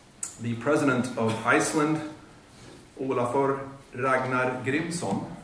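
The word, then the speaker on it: Grímsson: president of iceland ragnar grimson that's how i would say it as a swede i'm not sure that's correct that's a nice icelandic pronunciation but let's say president grimson in american vernacular will be here to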